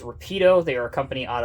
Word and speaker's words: Rapido: from a company that i believe the correct pronunciation is rapido they are a company